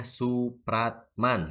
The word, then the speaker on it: Soepratman: Ditulisnya adalah W.R. Soepratman, tapi dibacanya Supratman ya.